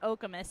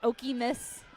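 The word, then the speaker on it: Okemos: They I don't quite know what Okamus is, but I've heard the classic Okimus and Okamus. Okamus. Okamus. Okchamus. Okay, I think I said it right.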